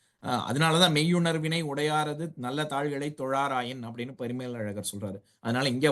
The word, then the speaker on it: தொழார்: வாளறிவன் நற்றாள் தொழார் எனின் அந்த இடத்துல சொல்லும்பொழுது தொழா அர் எனின் அப்படின்னு பிரிச்சு சொல்லக்கூடாது தொழார் அந்த அதாவது அளபெடுக்கிறது அளவெடுக்கிறதுனால என்ன அது ஒரு மாத்திரை அளவுக்கு நம்ம கூட்டி உச்சரிக்கிறோம் அதனால அந்த இடத்துல தொழா அர் அப்படின்னு சொல்லக்கூடாது அப்படின்னு நீட்டிச்சு தான் சொல்லணும் அதையே வந்து இன்னிசை அளபடை